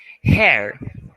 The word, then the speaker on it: hair: Então, H sempre com esse som de RR, tá?